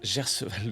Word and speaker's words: Gerseval: Moi, mon pseudo, ça se prononce Gerseval le.